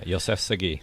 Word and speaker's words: Yoseff Sagi: And this evening, we get a guest star coming actually from Los Angeles, and it's Yoseff Sagi. Is that how you say your name? Yeah, Yoseff Sagi.